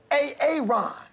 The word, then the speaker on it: Aaron: you say it the first time I said A-A-Ron? Because it's pronounced Aaron.